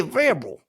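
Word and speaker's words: Vrabel: but it's Mike varable can you say his name right that's how you say varable vable vable we' we you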